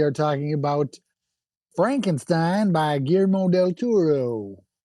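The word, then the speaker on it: Guillermo del Toro: Uh we're your hosts Dave Al Opie and Donnie and today we are talking about Frankenstein by GMO Del Turo.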